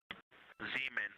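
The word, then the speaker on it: Zeman: Zean. Okay. And can you say the first letter? I may be pronouncing that wrong.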